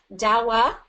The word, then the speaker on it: Dahua: Dawa, pronounced in two syllables, is a very robust, welloiled security manufacturer.